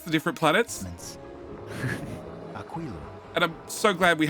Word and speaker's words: Aquilo: Aquilo. Yeah. Yeah. There's been debates about how to pronounce the different planets, Aquilo.